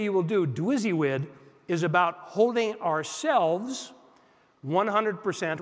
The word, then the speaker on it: DWYSYWD: willing to do this it's pronounced dizzy WID which stands for what would you guess do what you say you will do you know that word